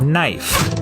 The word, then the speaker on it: knife: is in the word knife in Middle English it was pronounced knef but after The Vowel Shift the K became silent and the E turned